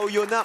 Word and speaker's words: Oyonnax: retour à Oyonnax. On ne Merci.